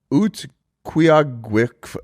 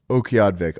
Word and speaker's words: Utqiagvik: This place is called Utqiagvik.